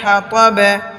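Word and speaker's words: الْحَطَبِ: আলিফ আছে হাম্মা লাতাল হাতাবে হাতাবি হয়তো তটা বায়ের সাথে মিলে যাবে কলকলার উচ্চারণ হবে হাতাবে পাল্টা আওয়াজ দিয়ে পড়তে হবে হাতাবে হাম্মালাতাল হাতাবে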